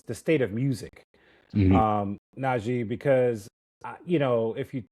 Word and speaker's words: Najee: And today I'm with Naji.